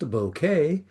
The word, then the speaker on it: bokeh: Ah, our January photo challenge will be bokeh or as it's correctly pronounced bouquet. The photographic term derives from the Japanese word bouquet.